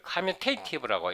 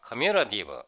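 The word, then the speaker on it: commutative: 그 다음에 아벨리언 그룹은요, 다른 말로 커뮤터티브 그룹, 이거를 커뮤테이티브라고 읽었는데 사전을 찾아보니까 커뮤러티브 이렇게 발음하면 커뮤러티브.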